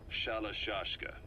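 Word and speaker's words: Shalashaska: Someone must have known about that, because somewhere along the line, Shashka got stuck on the end of Sharashka. The guerrillas were using the name amongst themselves, and by the time I got to hearing about it, pronunciation had wound up as Shalashashka.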